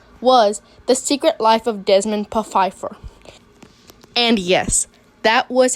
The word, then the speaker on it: Desmond Pfeiffer: Us and DiResta was The Secret Life of Desmond Pfeiffer. And yes, that was how it was supposed to be pronounced.